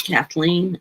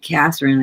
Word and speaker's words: Kathleen: You know how many times my name is mispronounced? You would be surprised. Usually I get Catherine. I get Kathy mean I get Cat. Uh uh UPS guy called me Caitlyn.